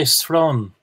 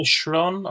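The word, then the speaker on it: srón: I would say shrien, but sron with a s.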